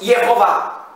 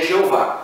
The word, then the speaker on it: Jeová: Como a a latinização do nome, nós dizemos Jehová. Então, a pronúncia portuguesa é Jeová.